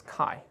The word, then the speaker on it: chi: coefficient and we we pronounce this as chi okay and this is chi so usually people write